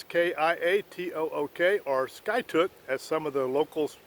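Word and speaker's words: Skiatook: ski it took s ki ATO ok our sky took as some of the locals were pronouncing it so we stayed here for a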